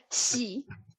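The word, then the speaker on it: 喜: I'm going to teach you how you pronounce this word. It's called "xi." Just "xi." It means lucky, fortunate. "Xi." Yeah. She. Yeah. Yeah, she.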